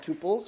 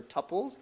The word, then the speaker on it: tuple: multi set of rows sometimes called two bolts or tuples depending on how you like to pronounce it so those are all